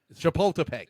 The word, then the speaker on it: Chapultepec: Chapultepec.